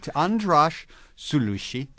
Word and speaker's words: András Szőlősy: Well, tell me, András Szőlősy, pronounce it properly.